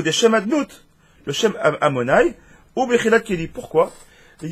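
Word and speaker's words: אדני: Pour ceux qui ne connaissent pas, Shem Havaya, donc c'est Yud Kevavke, le Shemanut, c'est le Shem qu'on prononce Amonai.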